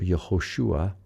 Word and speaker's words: Yehoshua: So Yehoshua those three stair stepped uh vowels are uh making the oo sound.